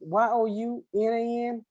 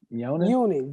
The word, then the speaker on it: Yonan: Oh, I love you, James Youngnan, Younan. How you pronounce that? Yonan.